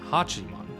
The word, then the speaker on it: Hachiman: But Tam, you read your book of, uh, Hachiman, right?